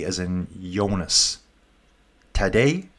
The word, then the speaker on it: Tadej: Tadej? Did I just say today? Today? Tadej? Yeah, he was on his wheel all the way.